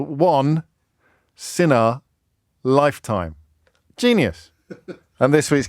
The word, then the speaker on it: Sinha: his surname is Sinha, so spelled Sinha, but pronounced Sinha, and his autobiography is called I've messed it up after that big build-up. Which Matthew Wright's distracting me. The autobiography is called One Sinha Lifetime.